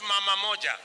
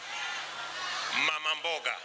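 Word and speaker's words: mama mboga: election is a woman she is called mamamboga not mama moja mamamboga and i want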